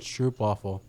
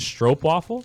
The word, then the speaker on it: stroopwafel: so good he's calling it stroopwafel oh i know you're just disrespecting it how is this what is it strop waffle don't disrespect stroke waffles stroke waffle okay even though it's okay even though it's spelled stroop you're looking like dc